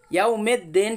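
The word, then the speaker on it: يوم الدين: মালিকি ইয়াউমিদ্দিন। অনেকে ভাই এখানে পড়ে ইয়াউমেদ্দিন, ইয়াউমিদ্দিন কিন্তু এখানে নেই, এখানে আছে কি ইয়াউমিদ্দিন। মেদ্দেন এই আওয়াজটা হলো মজহুল আওয়াজ, এই আওয়াজে কোরআন শরীফ পড়া হয় না, পড়লে ভুল হবে।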